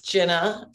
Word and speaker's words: Gina: supposed to pronounce it it's jenna um and then my last name is see i was the